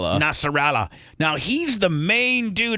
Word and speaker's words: Nasrallah: Nasrallah.